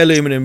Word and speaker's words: aluminium: Well, they say aluminum, we say aluminium, but aluminium, the British pronunciation had an I added to it to make it sound more sciencey.